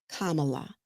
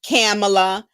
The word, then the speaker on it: Kamala: to let him know my name is Kamala Kamala not camela you know not all